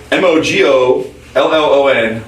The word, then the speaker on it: Mogollon: Which Mogollon is spelled M-O-G-O. Oh, we got power outages. We're in trouble. M-O-G-O-L-L-O-N, Mogollon.